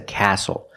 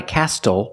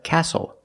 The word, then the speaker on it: castle: We also see the silent T when you have the spelling pattern S-T-L-E. Like these words, whistle, castle, and hustle. The T is silent with the spelling pattern S-T-L-E. Example, this is a castle. Not a castle, but a castle.